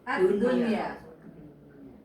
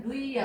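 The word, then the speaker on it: الدنيا: ya nih nih tapi ini karena satu kata dibacanya bunyan sama dunia Bu Dunia iya kan harusnya duy ya. Iyaun addunya addunya adunya nih addunya nih dunya pasti ketemuun addunya harusnya duyuya kan ya.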